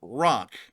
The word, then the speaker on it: ROC: make sure to put rock in the chat, in the comments section below. That is R-O-C, not spelled like rock, like a rock, but rock is in R-O-C, because R-O-C stands for